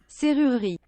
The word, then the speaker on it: serrurerie: the E-R-I, and then you don't pronounce that E at the end, because you never pronounce like the last letters of French, like it's serrurerie.